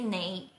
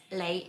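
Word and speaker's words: 你: So actually in my place, we pronounce the N and L, we will not pronounce it well. But as a teacher, I have to pronounce it quite well. It doesn't mean that when you say "nei" and then you pronounce "lei" is wrong.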